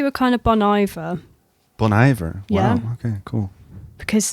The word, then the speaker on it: Bon Iver: kind of Bon IA Bon Iver wow okay cool because they're like oh bon no it's not French there's not an H in front of it yeah